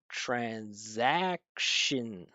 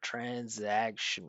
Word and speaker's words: transaction: Transact, right? Bold part stressed. Or if you look here with the apostrophe stressed and then right, it's written with a schwah, but again because that N is so strong with the vibration, it just takes right over transaction where he said transaction.